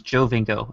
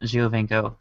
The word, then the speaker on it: Giovinco: So everyone's really excited about Jovinko, and yesterday I learned it was Jovinko and not Giovinco.